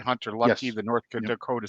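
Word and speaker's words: Hunter Luepke: Am I pronouncing that right? Hunter Lupke, Yes.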